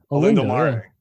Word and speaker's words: Olindo Mare: So a guy like Olinde Mare, I don't even know how to say his freaking name. Yeah, I think you nailed it. Olindo Mare.